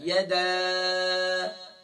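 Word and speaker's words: يدا: تبت یدا، یا زبر یا، دال الف زبر دا، یدا. اکثر یا دال الف مد زبر دا پرانے زمانے میں اس طرح ہجے کروایا کرتے تھے. تو مد کو جو ہے اس کا نام نہیں لیتے، بلکہ مد کو آپ پڑھیں گے، کھینچیں گے صرف.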